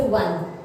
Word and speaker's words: one: अब जैसे देखो, और एक होता है जैसे वन, ONE, वन। ठीक है, शुरुआत वोवेल से है, लेकिन उच्चारण के टाइम उसको वन बोलते हैं, वन।